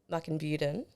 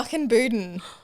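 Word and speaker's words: Mukinbudin: So you grew up in the country town of Muckenbuden. Good try. Oh, close. No. Muckenbuden. I even phonetically wrote it out too.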